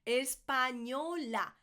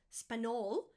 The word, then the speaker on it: español: So it's not Spanol, Spanol, Español. Español.